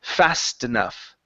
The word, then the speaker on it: fast enough: The only time we drop the T is when there is an S or sorry is when there is a consonant on either side of the T. This one there is a consonant on at the uh one side of the T but on the other side there is a vowel. So we do need to pronounce the T.